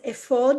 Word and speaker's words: ephod: The word is actually pronounced ephod because it's a proper name, and you Right.